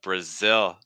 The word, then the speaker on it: Brazil: coming through uh Brazil Brazil starting off with awah Bruh Bruh and then short eye sound on ill ill the tricky thing here for Brazil is the dark L at the end with the short I so it's like ill like you're sick e ill I don't